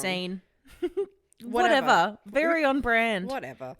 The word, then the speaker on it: Seine: It's pronounced as Seine. We kept saying it wrong. Seine.